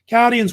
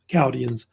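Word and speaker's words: Chaldeans: The H is silent. They don't pronounce it.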